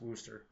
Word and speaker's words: Worcester: And what we're going to see is, I think that should actually be spelled Worcester, but it's pronounced Worcester.